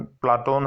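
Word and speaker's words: Πλάτων: प्लेटो शब्द का यूनानी उच्चारण प्लाटोन है तथा प्लाटोन शब्द का अर्थ चौड़ा चपटा होता है।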